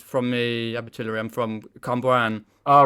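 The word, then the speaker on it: Cwmbran: I'm from Cumbrian. Oh right, Cumbrawn. Yes. Oh, Cumbrian, right. That's how you pronounce it.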